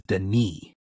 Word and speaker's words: Denis: I was part I was pronouncing uh the director's name wrong his name is Deni Deni yeah I think